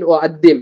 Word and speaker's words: أقدم: ممكن أقدم, இங்க காஃப் என்ன பண்ண மாட்டேங்கிறாங்க, சைலண்ட் பண்றாங்க, ஹம்சாவை தான் ப்ரொனவுன்ஸ் பண்றாங்க.